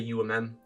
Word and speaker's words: UMM: Or is it Well, I guess you can say UMM.